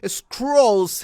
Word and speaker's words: Skrulls: Skrulls has a distinct pronunciation different than Cruel.